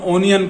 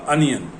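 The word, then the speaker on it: onion: अनियन में भी यही है कि O से शुरू हो रहा है तो हम ओनियन कहते हैं, लेकिन इसके O पे मत जाइए, इसका प्रोनाउंसिएशन होगा अनियन।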